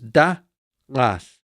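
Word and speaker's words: דַּעַת: So here you can see a dalet with dagesh line, de, a pasach, an ain, another pasach, and a final tau, th. There's the syllable division. Notice where the accent is. So it is da'as, da'as, da'as.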